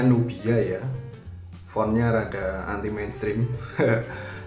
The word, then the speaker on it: Nubia: Ini bacanya Nubia ya.